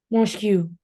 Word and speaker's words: mosque: Mosque. Tulisannya Saya kan gimana ya? mosque, ya kan? Mosque. Ya, cara bacanya itu mosque atau mirip sama kayak topeng tuh, mosque. Mosque. Ya, ada k-nya gitu ya.